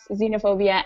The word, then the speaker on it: xenophobia: chobia chopon all right the last five sound like a z sound so it would be Xenon Xerox xenophobia and xylophone oh Z okay all right